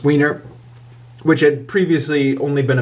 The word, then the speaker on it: Weiner: And then we get to, once this is done, A Bone Companion by Stephen, I think that's pronounced Weiner, which had previously only been available as an ebook.